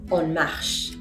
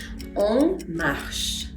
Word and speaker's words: on marche: On marche. On marche. Pas de liaison, bien sûr que no.